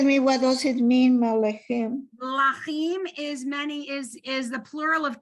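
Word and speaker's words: מלכים: Malachim. Melachim, right? Mel- Malachim, because you're not pronouncing anything under the mem, so it's malachim.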